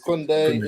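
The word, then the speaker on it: Koundé: I can't even pronounce. Is it Kunde? Kunde, indeed.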